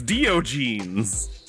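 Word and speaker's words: Diogenes: somebody will correct me it's dio jeans now i like dio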